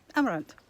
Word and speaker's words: Amarante: so you wouldn't say Amarante uh but I but they do sort of pronounce the E on the end of words but it's a sort